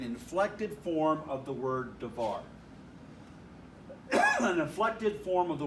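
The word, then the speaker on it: דבר: form of this noun davar when you add the suffix it adds a whole vowel okay and so now this is three syllable davar and devarin a devori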